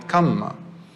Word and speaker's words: karma: And then you had the Jainist position towards karma. I say karma because that's how they say it. We call it kamma, but it's the same thing.